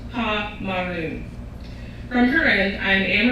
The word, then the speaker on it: Pomeroon: My mother is from the forests of Guyana and the banks of Pomeroon, pronounced Pa-Maroon.